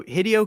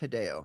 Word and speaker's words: Hideo: Like I I'm impressed by, you know, Hideio Khima could not have done as good of a job at crafting this narrative. I mean, it's pronounced Hideo.